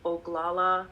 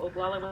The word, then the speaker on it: Oglala: The page is called Oglagola Women's Healing Circle, Mind Body Medicine. And Oglagola is spelled Oglala.